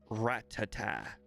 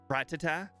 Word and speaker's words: Rattata: But I found out where everyone got the wrong pronunciation for Rattata. I found it out. I was watching the anime, and at the very end of the episode, I was listening to the Poke Rap, and the guy said Rattata Pidgey. Rattata Pidgey. Yeah, that's where everyone got it. It's because it rhymes. Everyone got the wrong pronunciation for Rattata because it rhymes. Well, it rhymes in the Poke Rap.